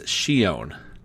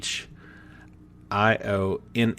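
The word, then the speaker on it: Shionne: going to say it's Shion so sh i o n n e so I don't think it's Shion because they add that extra NE at the end so we've still not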